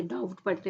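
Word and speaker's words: doubt: है W silent है इसमें डाउट डाउट में क्या है बी साइलेंट ओके ट डट नहीं पढ़ते डाउट पढ़ते ओके कुड कुड में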